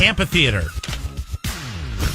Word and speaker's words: amphitheater: The H is silent. Which makes a amphitheater sound. No, it's silent, you moron.